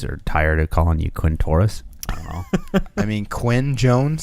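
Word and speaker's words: Quintorris: is it is interesting it sounds like you pronounce it Quinn Taurus Lopez yep Jones sounds like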